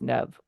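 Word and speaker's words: Neve: wrong you know so it is it is pronounced Nev like that's yeah that that's what I thought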